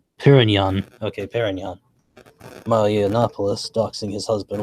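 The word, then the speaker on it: Pérignon: Okay, it's pronounced Perignon. Okay, Perignon.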